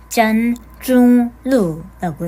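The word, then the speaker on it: 簪中录: 중국 원제 제목은 잠중록이라고 하고 중국어로는 짠중루라고 읽습니다.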